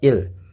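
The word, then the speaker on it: ils: yang artinya dia ya Meskipun tulisannya ada esnya Tapi bacanya tetap Il yang artinya mereka untuk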